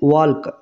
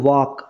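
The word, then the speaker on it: walk: ওয়াক এই যে এল এই এল টা হচ্ছে সাইলেন্ট লেটার সাইলেন্ট লেটার তাহলে তাহলে এল টাকে আমরা সাইলেন্ট লেটার বলবো কেন কারণ এই শব্দটাতে এল এর উচ্চারণ হচ্ছে না ঠিক আছে ওয়ালক এটা কিন্তু ভুল উচ্চারণ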